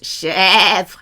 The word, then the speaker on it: chèvre: And if your accent is grave, meh, it's like a goat. Chèvre, chèvre, fromage de chèvre. It's an eh, eh, eh.